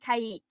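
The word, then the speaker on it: caique: did you say was a black-headed what black-headed kaik it's spelled c-a-i-q-u-e oh i see yeah cse just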